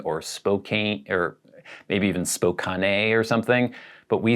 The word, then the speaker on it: Spokane: should be spokane or spokane or maybe even spokane or something but we say spokane and he says it is frequently mispronounced as spokane i was surprised that that